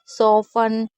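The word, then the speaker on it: soften: भी बता दूं कि ये कुछ ऐसी वर्ड मीनिंग है जहाँ पर टी हमेशा साइलेंट रहता है, लेकिन ये टी के साथ सी एच नहीं है, लेकिन इसमें हम भी टी को नहीं पढ़ेंगे।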